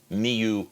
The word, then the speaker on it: mu: using microfarads written as Mu F yeah the first character that looks like a messed up U is pronounced mu it's a character that's